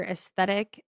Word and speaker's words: aesthetic: What app do moms use most for aesthetic? I always say that wrong. Did I say it right? No, you Aesthetic said it right.